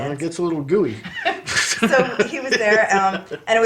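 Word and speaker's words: Guiney: that's still, yeah, I think it's pronounced Gooey.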